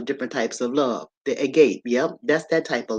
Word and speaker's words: agape: of Love is called agape and they spell it a or a gape a g a p e right a g a p e all right but you pronounce it Agape all right now this